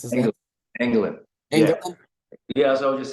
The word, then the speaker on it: Engelin: I cannot pronounce his England, last England, yeah. Engelin.